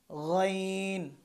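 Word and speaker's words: غين: তারপর হচ্ছে গইন, খ যেখান থেকে উচ্চারণ করেছিলাম ঠিক সেখান থেকেই গইন উচ্চারণ হবে, অর্থাৎ হলকের শেষ থেকে। গইন, গ, গইন।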